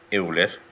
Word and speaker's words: Euler: Que decía la ecuación de Euler, si es biarticulado, decía la carga crítica de pandeo de Euler, o Euler como se debe pronunciar, es pi cuadrado por el módulo de elasticidad entre la esbeltez, KL entre L.